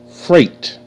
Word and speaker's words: freight: Freight. Fur. A. Freight. Freight. Freight. Okay? GH is silent. GH makes no sound.